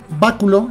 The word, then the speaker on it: báculo: Bueno, báculo, y acuérdense de pronunciarlo bien. Báculo, ahí está.